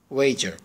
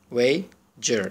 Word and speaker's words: wager: wager ببینید wager، این دی و این سی که به این حالت نوشته شده، یعنی این دوتا به عبارتی بچه با هم ج تلفظ میشن. اینم ای که از گلو wager، بگید دبلیو هم که و لبا هم دیگر رو لمس نمی کنن.